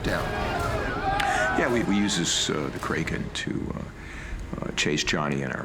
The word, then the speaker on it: Kraken: No. Kraken's how it's pronounced in the original Scandinavian. But what happened was Kevin McNally was the first character to actually speak the name of it, and he pronounces it Kraken.